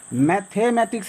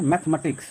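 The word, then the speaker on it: mathematics: आप बोल सकते हैं मैथमैट्रिक्स नहीं बोलना है क्या बोलना है मैथमेटिक्स मैथमेटिक्स ये मैथमेटिक्स है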